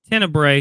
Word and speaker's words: Tenebrae: Tenebrae? How you say it, Blake? Tenebrae is right.